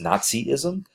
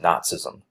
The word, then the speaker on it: Nazism: I know you might be thinking isn't it pronounced Nazism nope it's pronounced Nazism okay now it's a combination of a lot